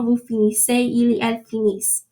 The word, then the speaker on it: finissent: finissez, il et elle finissent. So you're not pronouncing the ENT.